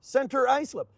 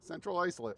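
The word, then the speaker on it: Central Islip: Carl Place, Cedarhurst, Center, Maritches, Centerport, Center Reach, Center Icelip, Cold Central. Got at least say it right. Which one? Central Icelip.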